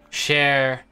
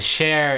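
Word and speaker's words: Chaer: nameplate on it officer cher Silvestre vestan you would recognize this as a very elven name it's that name spelled like it sounds I know the Celestra part is the share is CH AER yeah vestan you would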